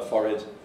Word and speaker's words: forehead: And it only works if you pronounce, because you can't do it if you pronounce as forehead, of course.